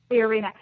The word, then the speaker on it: Fiorina: in watching is Carley Fiona or how you pronounce her last name fiorina um yeah thank you fiorina um and the only reason I'm interested in